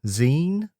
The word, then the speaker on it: XEEN: It's XEEN, Zine.